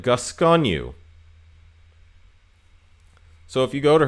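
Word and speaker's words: Gascogne: the list number six I believe this is pronounced gasconu because there's a French city that has the same name and I'm pretty sure it's the same but gasconu so if you go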